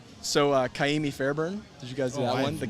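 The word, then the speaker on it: Fairbairn: just gonna i'm gonna this is gonna get butchered okay but it's fair burn i say you did a really good job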